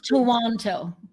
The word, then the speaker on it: Toronto: Toronto. 2000, yeah. Or to the locals, Toronto. Walang RW daw.